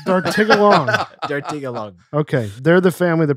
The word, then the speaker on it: Dartigalongue: I wasn't that far off. I added one you syllable. You said longy. Dartigalongue.